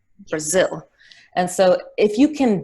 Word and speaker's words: Brazil: It's lower, it's shorter, it's less clear, so you get bra, bra, Brazil, and zil is the stress, Brazil.